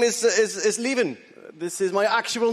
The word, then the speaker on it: Lieven: My name is Lieven.